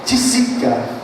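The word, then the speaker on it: Tietze: E há pouco tempo eu verifiquei que não era um francês, nada, é um alemão, e a pronúncia não tem nada a ver com Price, a pronúncia é Tisica.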